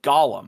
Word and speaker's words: golem: And he did a video on the history of the golem, or golem as we would probably pronounce it, and how it's actually a piece of Jewish folklore.